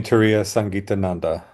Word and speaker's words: Turiyasangitananda: swamini, you know, um And how do you pronounce her name? Turya Uh Swamini Turiyasangitananda.